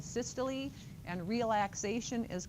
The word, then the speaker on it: systole: It's not systole and diastole. That's what it looks like, right, if you sound it out phonetically, but it's systole and diastole.